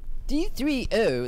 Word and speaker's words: D3O: D3O, as it's pronounced, is a specially engineered material that, when